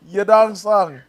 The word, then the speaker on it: Yadong Song: I th- I think it's pronounced the other way. It's like Zhang Wei Li, but Yadong Song.